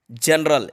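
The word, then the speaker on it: general: जैसे कि जनरल, जनरल जी के बाद ई है, जनरल।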